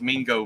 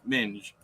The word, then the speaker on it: Minge: he's calling him Minge do you think people will pronounce that Ming maybe I don't know it's not m-i-n-g it's m-i-g-e m-i-n-g-e hmm yeah I gotcha yeah it's a British slang for female genitals but anyways I knew that before I looked it up but I was just looking up pronunciation and yeah the a Ming is without the e and Minge is anyways but like I